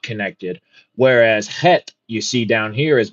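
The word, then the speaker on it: חית: The eighth letter is Het, pronounced het.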